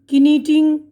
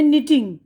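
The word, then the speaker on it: knitting: अब ये है निटिंग, के साइलेंट है इसमें।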